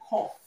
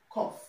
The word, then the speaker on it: cough: The only word that contains OU that is not pronounced R is cough. Cough, okay? Now, this word is pronounced cough. Cough. Okay, the O here is not pronounced R. It does not have the same sound in the word double, okay? In the word couple. In the word trouble. Okay? So, root words that contain O between two consonants are pronounced R, okay? Except in the word cough, okay?